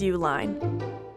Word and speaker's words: Uihlein: Meet Dick and Liz Uline. They spell it like this, but they spell their company name like this.